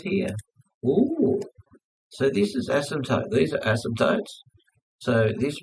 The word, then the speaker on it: asymptote: They're just asym. P is silent. Asymptote.